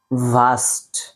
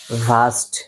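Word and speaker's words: vast: ভাস্ট আমার সাথে বলেন ভাস্ট ভাস্ট এযে এখান থেকে উচ্চারণ হবে ভাস্ট ভাস্ট ভাস্ট আপনারা ফা যেভাবে উচ্চারণ করেন না ফালাক ফাফা ভাস্ট ভাস্ট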